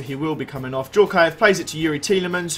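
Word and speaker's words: Dzagoev: A few people told me that's not how you pronounce his name, and it's Zakaev. I'm sure I remember during, like, Euros or something like that, there was a big deal out of the fact you pronounce it Djorkaev.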